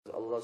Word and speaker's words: Allah: read with tafkheem and has to be prolonged. Allah, like that. Naam? Or if it's read short, Allah, Allah, Allah, you know? But not lightly. The tarqiq, the thinness and the lightness in the pronunciation is not allowed.